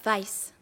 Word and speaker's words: Weiss: de sang oh Adrian Weiss Weiss ça se prononce Weiss c'est le genre de chose que tu sais